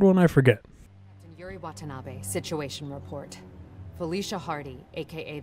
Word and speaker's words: Watanabe: Is that how you pronounce that? Wannabe? Or Watanabe? Watanabe.